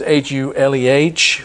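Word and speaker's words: Huleh: You usually find it H-U-L-A, Hula, but this is spelled as H-U-L-E-H, Hule.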